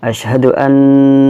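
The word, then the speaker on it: أشهد أن: dari yang pertama adalah Asyhadu an ya ini memang harus dibaca dengung yang panjang ya karena nonya non-state Asyhadu an na muhammadurrosululloh jadi 12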